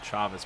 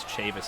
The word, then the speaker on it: Chavis: incorrectly is michael chavis i was pronouncing it chavez before just kind of assuming that it might have been a hispanic type of a name but in fact it is chavis i think that's going